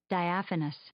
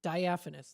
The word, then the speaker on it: diaphanous: in order to try to be able to pronounce it. So let's hear it together. This is, we'll listen to it. Diaphanous. Diaphanous.